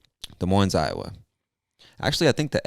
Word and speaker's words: Des Moines: moines or des moines i'm sure the s is silent because i believe it comes from french and most of the